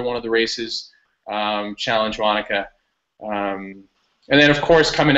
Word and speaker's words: Wanaka: Wanaka? Is that Wanaka, how you say it? Exactly. Yeah, Wanaka.